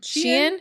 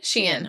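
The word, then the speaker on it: Shein: How do you say it? Sheen. Sheen.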